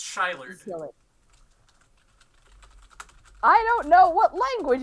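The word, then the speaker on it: Szilard: And Well, it's aren't they pronounced- coming all from the same place? Sealard, according No.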